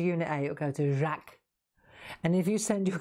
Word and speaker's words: Jacques: place there's a company called jack jacques it's spelt like french and it's they make